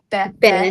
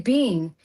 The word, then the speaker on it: been: say, instead of saying, how do you pronounce Been in American English? Ben. Ben. Ben. And I say bean. And this girl turned to me and she was like this 16, 17-year-old girl. She goes, it's Ben.